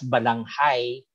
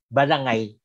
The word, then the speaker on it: balangay: Of course, yung iba binibigkas balanghay, pero kasi itong spelling ng ilang manunulat na Espanyol, pero dahil sa wikang Kastila, silent ang H, balangay din ang bigkas doon, no?